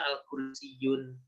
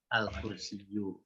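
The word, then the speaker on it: الكرسيُّ: bacanya Ya kayak gini Jadi kalau kayak tadi al-kursi you tidak boleh dibaca al-kursi Jun itu jadi harusnya al-kursi you atau kalau mau kursiyyun hanya kalau kursiyyun artinya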